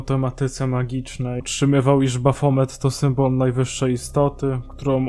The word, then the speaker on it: Baphomet: Baphomet to postać, czyta się Baphomet, kurwa, jestem debilem, która skojarzyła mi się początkowo z diabłem.